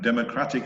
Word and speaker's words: democratic: it is okay democracy so you notice that the accent it moves it's democracy that dah dah dah dah dah dah dah democracy and democratic it moves one syllable to the right democratic that the data